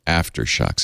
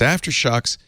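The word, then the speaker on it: AfterShokz: warranty I love my after shucks it's after shocks spelled with a k Z at the end aft ER sh o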